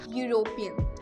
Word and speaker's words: European: यूरोपियन य से start होता है. बेशक उसके स्टार्टिंग में वर्ड 2 लेटर्स वॉवल्स हैं, बट उसकी जो प्रोनाउंसिएशन, उसकी जो साउंड है वो य से आ रही है.